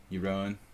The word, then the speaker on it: Jeroen: I always like go back and revert to like the incorrect pronunciation of names. Aronian, Alakine, Jeroen.